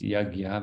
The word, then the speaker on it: yajña: Veda the word is yajna it's spelled y-a-j Enya a yeah and uh you'll sometimes hear it pronounced yagya because it's hard for us to pronounce with our non-sanskrit tongues um but you know